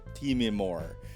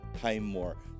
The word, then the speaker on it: Timemore: who keeps on telling me that this is teeming more not time more so you know it is what it is it's spelt one way it's pronounced another let's just